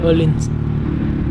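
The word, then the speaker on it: Öhlins: Còn cái thương hiệu Phuộc nổi tiếng này thì chắc là ai cũng đọc đúng rồi. Nó là Erlins.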